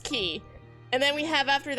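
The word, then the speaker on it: χ: here's the thing so this X yeah that's pronounced key because it's it's it's it's supposed to be like a fancy fancy fancy X it's so it's pronounced key and then we have after that Unchained key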